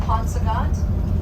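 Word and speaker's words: Paunsaugunt: P Native American language it's the pronounced ponant it means water of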